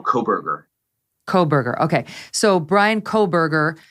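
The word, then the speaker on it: Kohberger: Is that how we're pronouncing his last name, Brian? Kohlberger? It's Kohlberger, so no L, Kohlberger.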